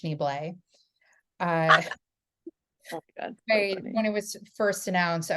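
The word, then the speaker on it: Schneebly: I'm a huge School of Rock movie fan, Yeah, so I sometimes will quote like it's pronounced Schneeblay.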